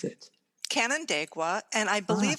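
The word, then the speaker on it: Canandaigua: in new york canada how how do you pronounce it canon dagua and i believe it's seneca indian um native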